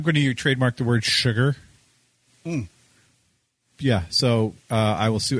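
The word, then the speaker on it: Shugger: they can spell it S-U-G-A-R. That's not what I'm trademarking. It's S-H-U-G-G-E-R. Sugar. Sugar? Sugar. Because that's how it's pronounced, right? Yeah. Phonetically, it's sugar.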